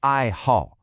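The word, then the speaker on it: 爱好: Listen closely to the tones. It's two fourth tones back to back. The fourth tone is that sharp, falling one, like you're giving a command.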